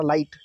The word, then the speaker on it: light: अब लाइट में लग नहीं रहा, LIT ही पढ़ा जा रहा, लाइट, GH गायब हो गया।